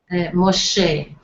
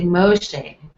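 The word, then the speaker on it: משה: I also note that in Hebrew, the stress is usually on the last syllable of the word. So you say Yitro, Moshe for Moses. You say Moshe, Moshe, Yitro, Melech.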